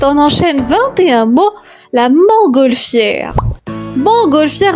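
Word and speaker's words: montgolfière: enchaîne 21 mots la mangolfière mangolfière attention il y a des lettres muettes la mangolfière et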